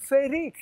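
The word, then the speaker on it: freekeh: And the same with frike. Yes, frike. In Arabic, it's ferik. In Egypt, it's ferik. But because it's Syria, actually Lebanon, that sells it. Yeah. So they say frike with an E-H at the end.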